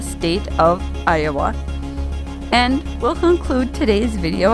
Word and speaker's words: Iowa: We enter Calcasieu Parish and the town of Iowa. Yes, that's how it's said, Louisiana, not to be confused or pronounced like the state of Iowa.